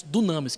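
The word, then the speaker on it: δύναμις: da palavra a Dinamite ela é escrita dynamis é nós pronunciamos Dunamis que é transliteração fonética da palavra e a palavra dynamis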